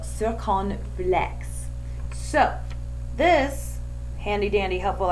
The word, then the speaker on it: circonflexe: this lesson together that I've been pronouncing this wrong forever. I haven't actually seen the word spelled out, so I'd been pronouncing it wrong, so I learned something today too. It's accent circonflexe.